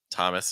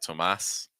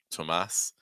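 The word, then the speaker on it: Tomás: not paying attention to the accent marks would probably say Thomas Thomas especially because it looks similar enough to the name in the US Thomas versus like Tomas Tomas um if you told people where distress was I think people would pronounce it right but most likely if people just saw it red there's a chance they would just say Thomas um Alysa Alysa you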